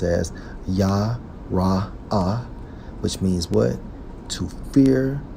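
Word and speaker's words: יָרֵא: According to the Hebrew, Strong's H3372, pronounced as Yah-Ra-Ah, which means what?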